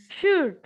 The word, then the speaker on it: should: 7 number উচ্চারণ হুম, should. Very good. Yes, শুড না, এল এর উচ্চারণ করা যাবে না, এল এর উচ্চারণ করা যাবে না, শুড।